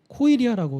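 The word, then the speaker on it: κοιλία: 배는 헬라어로 코이리아라고 이렇게 발음을 해요.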